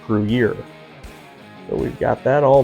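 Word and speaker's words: Gruyère: It's actually pronounced Gruyere.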